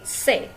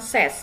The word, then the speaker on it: ces: C dibacanya C bukan ses, jadi bendanya jamak ya.